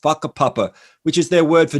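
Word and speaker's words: whakapapa: maori culture there is a concept called papa spelled with wh it looks like wakka papa but a papa which is their word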